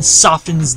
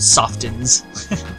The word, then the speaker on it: soften: softens. Over-pronouncing the word soften. Sounds so stupid. Alright. Guess we're gonna enter the bookstore, because like, usually you just say soften, right? But it's like, soften. You're like, ew.